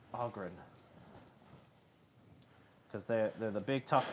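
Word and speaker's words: Ogryn: The Ogren. Ogren. Pronounced Ogren.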